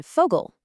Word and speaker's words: Vogel: The letter V is pronounced Fau, and it makes an F sound like in Vogel.